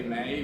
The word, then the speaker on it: me: Oh, so in the Latin, well, they do have the word ego, which is I, and the word me is, they say may, but it's also me.